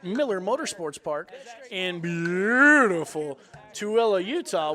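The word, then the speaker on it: Tooele: in beautiful tuilla Utah when I first moved to Utah I called it Tully uh because the way it's spelled t o o e l e as I'm from the south and we just don't annunciate so we go out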